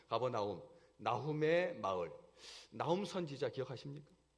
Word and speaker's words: 가버나움: 원래 무슨 뜻이냐면 나훔의 마을이라는 뜻입니다. 가버나훔, 원래는 나훔의 마을, 그러니까 가버나훔이라고 해야 되는데 가버나움으로 이렇게 발음이 되죠. 가버나움, 나훔의 마을.